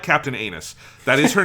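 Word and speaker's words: Ainus: like i like captain anus that is her name it is anus i it's it's a-i-n-u-s but it is just in japanese it's just anus her name is captain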